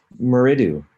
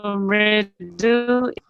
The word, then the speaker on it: Mridu: Meridu, is that the proper pronunciation of your name? Yes, you are close. So what is it supposed to be? So Mridu it's a Sanskrit name actually.